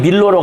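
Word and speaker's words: Milo: 대리석으로 기원전 200년경에 만들어진 것으로 여겨지는 그러니까 멜로스 섬 또는 뭐 밀로 영어식 발음으로는 밀로라고 합니다.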